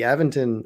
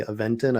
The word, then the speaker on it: Aventon: on e-bikes and uh the aventon I guess it's technically eventin I've been saying it wrong for years I think it's hard